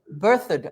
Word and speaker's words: Berthoud: Helen, Tennessee, Berthoud, Colorado. Don't know how to pronounce that. I'm birthed. Berthoud.